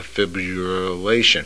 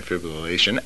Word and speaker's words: fibrillation: teaming to help americans with a trivial uh fibulation fibrillation okay atrial a-t-r-i-a-l i can spell it better than i can say it fib